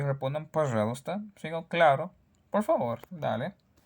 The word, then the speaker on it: пожалуйста: Пожалуйста significa por favor. Se escribe пожалуйста, pero no se pronuncia así porque sea muy difícil. La gente dice simplemente пожалуйста.